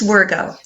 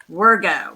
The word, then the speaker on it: Wirgau: is your last name how do you say your last name it's virgo virgo well peggy workout i'm so glad to